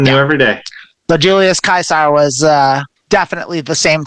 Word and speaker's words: Caesar: I got it wrong because it's actually not pronounced Julius Caesar despite what we all say it's actually Julius Kaiser all Roman Seas have a hard sound so